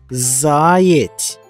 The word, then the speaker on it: заєць: А на який склад падає наголос у слові «заєць»? Вимовмо слово «заєць». Правильно, наголос падає на перший склад.